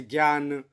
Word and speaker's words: ज्ञ: ज और य, तो इसे ज्ञ बोलते हैं वैसे, क्योंकि इसमें आधा ज और य, लेकिन अब इसका प्रचलित जो रूप है वो ज्ञ बोला जाता है, जैसे ज्ञान, इस तरह बोलते हैं।